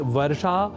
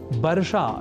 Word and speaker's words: वर्षा: तावत प्रकृत अनुसरा मः अर्थात वर्षा और वर्षा के व अक्षर की जगह ब इस अक्षर का प्रयोग किया जाना और बर्षा या बर्षा जैसे प्रयोग करना अशुद्ध है यह हमें ध्यान में